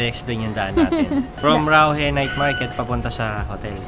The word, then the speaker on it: Raohe: Bigkasin mo nga love, Rauhe. Rauhe Night Market. Rauhe. Ito talaga, ginagaya yung mga Chinese magsalita. Ganun yung naririnig ko eh, di ganun dapat natin bigkasin.